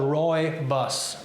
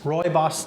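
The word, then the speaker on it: rooibos: i love ruby our second wonderful tea the pronunciation is called roy bus roy boss tea and it looks just like this it's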